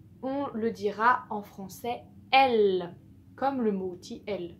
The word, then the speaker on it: elle: Oui, elle, le mot outil elle. Et ben en fait, si E, L, E, deux L, donc c'est une lettre double qui est deux fois, E, L, se prononce L, comme le mot belle.